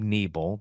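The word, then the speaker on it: Nebel: up tftc with Bob neble that is a long e ne b l check that out wherever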